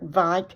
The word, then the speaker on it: Wieck: Her father, Frederick Wieck, and that is pronounced with a V because it's German.